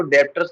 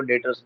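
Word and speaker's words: debtors: उसको डेप्टर्स नहीं बोलते, उसको डेटर्स, बी उसमें साइलेंट होता है, तो डेटर्स, ठीक एंटर है।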